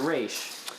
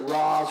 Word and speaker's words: Ra's al Ghul: So you pronounce it Raish. Well, I pronounce it Raish when I'm in a comic mood. I pronounce it Roz when I'm in a Chris Nolan mood.